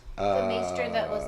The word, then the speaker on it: maester: No, the Citadel is where the masters all learn in Old Town. It's pronounced maester. Maesters. I'm Yeah, sorry. not the master.